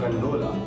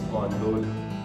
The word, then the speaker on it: gondola: First I used to pronounce gondola, then I got to know it's gondola.